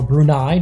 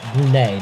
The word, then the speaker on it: Brunei: Or Brunei, depending on how you want to pronounce it, but here on Marble Fubica, we're going to pronounce it Brunei.